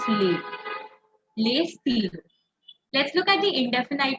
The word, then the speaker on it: les: pronounced as Leo Le you don't pronounce the S you only pronounce le le let's look at the